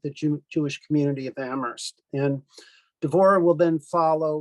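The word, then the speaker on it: Amherst: Um and um as uh Karen said uh we are members of the uh Jewish community of Ammerst uh where only the H is silent as we say.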